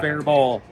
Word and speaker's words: Faribault: Faribault, T is silent.